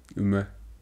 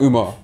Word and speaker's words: Umar: Jadon Umar? No. Umar. but it's like you can anglicize it, I guess. It's not Umar. I don't know where you got the A.